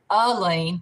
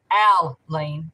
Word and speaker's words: Alyne: Alyne, it can be pronounced Alyne like I-L-E-A-N, or Alyne, which would be like U-H-L-E-A-N, or Alyne like A-L-L-Y-N-E. You know, it's just, it's not an E sound, it's an which would be, you know, one of the A sounds or the sound.